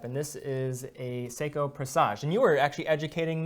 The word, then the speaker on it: présage: Présage with one S in French is Z, présage, normally with an accent on the E.